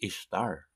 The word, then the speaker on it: Ishtar: the ancient Assyrian goddess Ishtar. Ishtar, I-S-H-T-E-R. I-S-H-T-E-R, Ishtar. It was pronounced by the Assyrians as we pronounce Esther today. So Ishtar, the correct pronunciation is Easter.